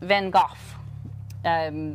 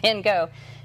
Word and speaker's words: Van Gogh: Yeah, his name is actually pronounced Van Gogh. We just, in America, they butchered it and call it Van Gogh.